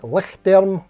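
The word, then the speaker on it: Lichtlærm: keyboards, but it's like Lichtterm Audio. The spelling is L-I-C-H-T-L and then an A and an E like joined together letter, RM Audio, Lichtterm Audio.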